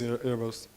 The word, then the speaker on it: Erebos: repo he links to Erebos, saying like you should just use this. So what is Erebos or Erebos, if you wanted to pronounce it the Greek way?